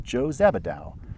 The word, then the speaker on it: Joe Zabbidou: gentlemen my name is Joe zabadal he announced pronouncing the J with a sort of shushing noise so it sounded more like shhh and I am here